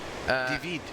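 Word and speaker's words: Deivid: do you pronounce that divid yeah divid d e i v i d so the second part of it is vid for sure and Day Day Dei would be Dave yeah yeah it's dve that's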